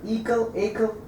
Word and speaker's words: Ekal: I was want to say, I'm afraid I'll mispronounce it, I'm going to give it a shot. Ekal2017-01. Perfect. Ekal Ekal Yeah.